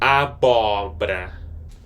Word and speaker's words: abóbora: A B O. This O has an accent and it's an open vowel sound. B O R A. Abra.